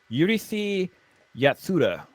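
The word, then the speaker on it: Urusei Yatsura: It should be Yurisi Yatsura. It's how it should be pronounced.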